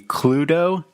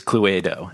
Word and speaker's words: Cluedo: The British pronunciation would be Cluedo, Yeah. Yeah. but because Italians have this way of pronouncing every single letter, her accent, it is Cluedo, and that's I thought Yep.